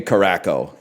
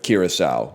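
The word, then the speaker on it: Kraków: had no idea how to pronounce it and just got lucky. But then he did say Carco instead of Kiraau, which is really funny.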